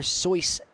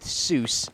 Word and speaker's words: Seuss: actually named after theodore sois geisel which actually his uh american pronunciation of the name got more popular with soos and he became dr seuss